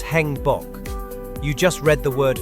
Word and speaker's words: 행복: The vowel A is a combination of A and E. Pronouncing them as one syllable, it will become E as in bed. Can you try it? Yes, it's Hangbok.